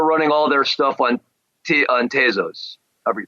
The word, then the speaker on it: Tezos: And then Tezos, I believe it's pronounced.